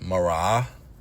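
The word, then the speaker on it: מראה: The word look in the Hebrew is pronounced Maraah, broken down Maraah.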